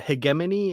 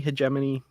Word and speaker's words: hegemony: so I always I I always said it that way but maybe I'm crazy I don't know he get many hegemony both work um I just don't